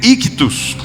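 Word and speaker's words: ἰχθύς: Peixe se chama em grego ictus. No sotaque nordestino brasileiro, ictus.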